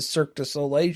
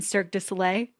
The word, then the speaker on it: Cirque du Soleil: Why did you say it right then? You're trying to throw it in my face. You're the one saying it wrong.